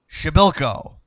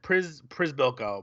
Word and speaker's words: Przybyłko: What a goal by, I had to write this out phonetically, Kasper Przybyłko. I would have said Przybyłko.